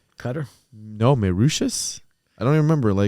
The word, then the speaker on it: Mauritius: I'm pretty sure it's pronounced Mauritius, not Mauritius.